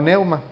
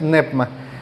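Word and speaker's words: πνεῦμα: es nepma o neoma muchos muchos lo conocíamos como como neuma pero la pronunciación correcta es nepma de ahí que este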